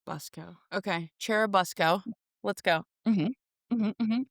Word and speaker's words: Churubusco: And it looks like it should be Cherubusco, but I read on the internet people saying it's definitely Busco, so say it like Busco. Busco. Okay. Churubusco.